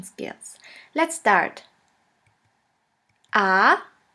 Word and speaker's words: a: repeat after me ah the letter a is pronounced like the a in the word astronaut and in the longer version it sounds like the a in the word far your first German word